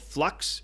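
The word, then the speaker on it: f.lux: I use one is called flux it's spelled F dot L UX and I use that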